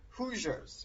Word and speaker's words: Hoosiers: pronounce it? Hoosiers.